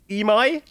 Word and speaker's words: Emi: more bits it says it's pronounced em or emi emi emi I love how people